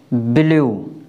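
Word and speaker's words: blue: उ से करते हैं जैसे बी एल यू ई इसको हम क्या पढ़ेंगे ब्लू क्या पढ़ेंगे ब्लू सी एल यू ई इसको हम क्या पढ़ेंगे क्लू यानी शब्द के लास्ट में य ई आता है तो ई साइलेंट रहेगी और य का उच्चारण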